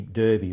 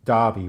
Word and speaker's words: Derby: over here so they look at it phonetically and think it must be Derby rather than Derby which is the way that would been pronounced in in England well that's what I